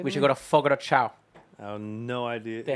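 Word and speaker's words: Fogo de Chão: We should go to Fogo de Chao.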